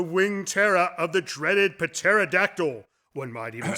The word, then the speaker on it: pterodactyl: Terror of the dreaded pterodactyl one might even say that what the p is silent is that because you